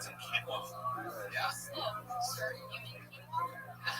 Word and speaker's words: quinoa: It's some quinoa.